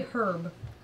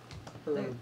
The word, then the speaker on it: herb: Yeah, we pronounce the H.